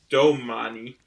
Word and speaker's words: Domani: no but how is it how is it pronounced domani yeah but is it like oh d-o-m-a-n-i oh domani all right i thought it was